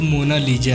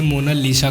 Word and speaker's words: Mona Lisa: था इस पेंटिंग का नाम वैसे तो मोना लीजा है लेकिन उच्चारण बिगाड़ करर इसे मोना लीशा कर दिया गया मोना लीशा पेंटिंग मशहूर